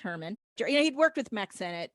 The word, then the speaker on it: Heerman: This film was directed by Victor Herman, which is spelled Heerman, but it's pronounced Herman.